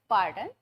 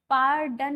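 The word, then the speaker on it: pardon: ही अलग केस है पार्डन में आर को बहुत ज्यादा प्रोनाउंस नहीं किया जाता है आर पर बहुत ज्यादा स्ट्रेस नहीं दिया जाता है आ जस्ट मीन टू से पर्डन नहीं बोलना है यू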